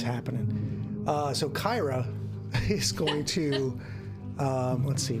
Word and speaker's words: Kyra: Brings us to Kier or Kyra. So, just a quick in-show actually. Hit me. I Pathfinder wikied Kyra, Yeah. and it is pronounced Kyra.